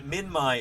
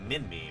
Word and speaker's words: Minmi: And Minmai is how it's pronounced. I didn't know that until I met Ralph Molner. I'd been saying Minmi my whole life up until that point.